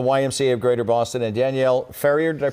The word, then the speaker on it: Danielle Ferrier: CEO of the YMCA of Greater Boston, and Danielle Ferrier, did I pronounce it correctly?